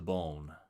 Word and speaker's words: bone: My flesh is wasted to the bone. Probably pronounced bon though to make it rhyme.